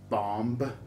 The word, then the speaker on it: bomb: did you call it bomb no no the b is silent the final b is